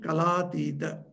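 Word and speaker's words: Kalātīta: Atita, when it is added to Kala, it becomes Kalatita. So when you pronounce it, you pronounce together. So you pronounce it Kalatita.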